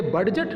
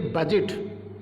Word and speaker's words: budget: कैसे होगा देखिए आप, जैसे स्पेलिंग है BUDGET, इसे हम क्या पढ़ेंगे, बडजट नहीं, इसे पढ़ेंगे बजट, क्योंकि D और GE का हिंदी अर्थ होता है जय।